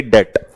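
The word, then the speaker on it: debt: Unable to पे डेट, इसमें B silent रहता है तो इसे डेट कहते हैं।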